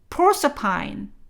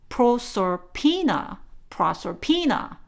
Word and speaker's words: Proserpina: 어쨌든 이렇게 헤이디스가 집착하던 여인네 퍼시포니의 다른 이름이요, Proserpine 하든가 아니면 NA 하고 끝내셔서 proserpina 이렇게 발음하거든요.